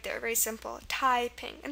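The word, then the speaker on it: Taiping: our English word typing the stress is on the first syllable it's typing not typing um there's a slight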